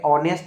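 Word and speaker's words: honest: बोल रहा है कि यदि किसी वर्ड में एच के बाद अगर ओ हो तो ए हमेशा साइलेंट होगा जैसे अनर अनर में आप देख सकते हैं कि एच के बाद जो है ओ आया है वहीं पे ऑनेस्ट में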